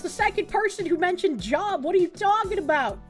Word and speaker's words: Job: It's pronounced like lobe.